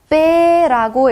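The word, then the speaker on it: п: 돼지 발 같기도 하고 자, 얘는요 읽으실 때 빼라고 읽어주시면 됩니다. 빼. 이것도 된 소리가 나죠. 쌍비읍에 가까운 소리가 납니다.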